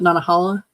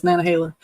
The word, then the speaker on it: Nantahala: Some people might pronounce it Nantahala, but it's Nantahala.